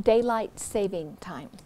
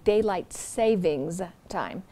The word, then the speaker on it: daylight saving time: this entry is that we often mispronounce it we say daylight savings time so note that that's not there's no s there and then there is